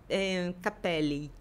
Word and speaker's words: capelli: Capelli. Capelli, que é no plural, né, no caso. Porque são dois L's, né?